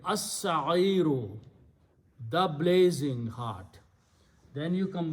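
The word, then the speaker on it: السعير: Al sa'iru, but seen is a shamsi letter, so lam will not be pronounced. So it will be as-sa'iru, the blazing hot.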